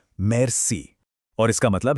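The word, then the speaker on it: merci: मेर्स। इसका प्रोनाउंसिएशन है मेर्स।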